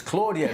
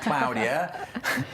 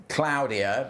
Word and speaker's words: Claudia: The Spanish named it and that is how they pronounce it.